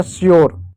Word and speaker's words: sure: उसी प्रकार एक और शब्द है SURE, यू आया, यू के बाद आर ई आया, तो ई साइलेंट होगा, एस का आधा सा, यू का यो हो जाएगा, आर का रो हो जाएगा, हो गया श्योर।